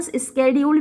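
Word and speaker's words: schedule: शेड्यूल, एक शेड्यूल मतलब इसको अमेरिकन स्केड्यूल भी बोलते हैं, कुछ लोग इंडिया में भी स्केड्यूल बोलते हैं, लेकिन हम तो शेड्यूल बोलते हैं क्योंकि पुराने प्रोनाउंसिएशन में इसको शेड्यूल ही बोला जाता है।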